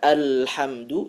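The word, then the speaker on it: الْحَمْدُ: huruf Sin ihdinir atau menebalkan huruf lam pada kalimat alhamdu Yang seharusnya dibaca alhamdu dibaca alhamdu ya ini sering terjadi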